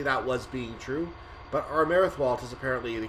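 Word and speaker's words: Armathwaite: Armerthwalt or something like that is what I believe I was told. Armerthwalt. I believe what I've been told is that Armerthwalt is the correct way to say that.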